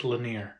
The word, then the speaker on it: Lanier: oh man I already I did look up how to say it lake laner lake laner yes where is that at